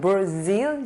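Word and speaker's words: Brazil: 그래서 vast areas of the Amazon forest 했는데 아마존 브라질의 아마존 브라질 아니고 브라질 영어는 브라질 질이 강세가 있으니까 브라질 이렇게 발음하는데 브라질 발음이 되게 이상하죠.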